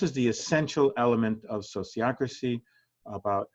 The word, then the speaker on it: sociocracy: Even the word sociocracy, where it comes from is socios, those who associate together, and ocracy, governance. So governance by the socios, sociocracy. It's the same kind of pronunciation as sociology.